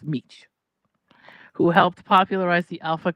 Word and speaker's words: Mech: Delavid Mech right pronounced Meech actually I call it Mech but it's Meech who helped popularized the